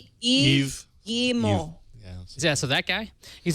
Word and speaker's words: Yves Guillemot: How do you pronounce his name? Yves Guillemot.